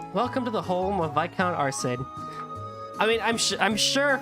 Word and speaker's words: Viscount: You want to talk about English phonetics, there's an S in Viscount.